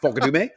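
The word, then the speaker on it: Fukudome: I'm going to put on my Kosuke Fukadume because if you know anything about baseball, his name is actually spelled fuck you do me, right? But it's pronounced Fukadume.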